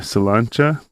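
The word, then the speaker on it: Sláinte: In Ireland, they say Salancha. Salancha? Yeah. Man, I just think I think it's spelled Slanty, like SLANTE.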